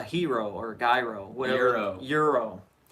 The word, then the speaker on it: gyro: But I guess it's spelled with a G and it's pronounced with an E.